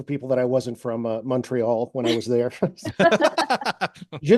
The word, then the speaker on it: Montreal: If you say Montreal, you're not local. Okay. So there's MUN, Montreal. There were other giveaways for people that I wasn't from Montreal when I was there.